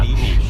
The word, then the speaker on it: niche: Is that the way you pronounce that? Yeah, niche.